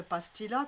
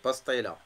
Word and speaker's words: pastilla: pastilla, que vous dites pastilla, que nous on dit pastilla. C'est pastaïla.